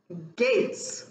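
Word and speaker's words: Gaetz: matt i tame somebody and gates is the pronunciation of his name um tame gates and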